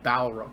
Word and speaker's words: Balrog: yep that's what it is yep it's actually Balrog Dow rock both bar bar log all right